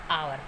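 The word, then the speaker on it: hour: एच कुछ few words हैं जो एच से शुरू होते हैं और एच उनमें साइलेंट होता है। कुछ एक वर्ड है ये जो एच से शुरू होते हैं और वहाँ पर एच साइलेंट होता है। For example year, honest, ऑनर, आवर। तो यहाँ पर एच से शुरू है ये सभी वर्ड, बट यहाँ पर एच जो है वो साइलेंट है।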